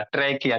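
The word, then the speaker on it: trachea: ये जो आपको लॉन्ग ट्यूब जैसा स्ट्रक्चर दिख रहा है इसी को क्या कहोगे ट्रैकिया कहोगे इसी को क्या कहोगे ट्रैकिया स्पेलिंग याद रखिएगा प्रोनंसिएशन याद कीजिएगा ट्रैकिया टैिया नहीं पढ़िए ट्रैकिया है ये जो ट्रैकिया भोला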